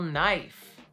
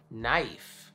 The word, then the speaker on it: knife: But silent K is easy. For example, knife. Knife. My knife. No.